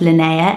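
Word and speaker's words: Linnea: a little bit harder to pronounce but it's pronounced lanaa l i n e a think it's beautiful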